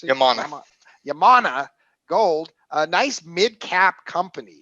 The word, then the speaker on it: Yamana Gold: i never pronounce it right how do you pronounce it yamana gold a nice mid cap company so happens to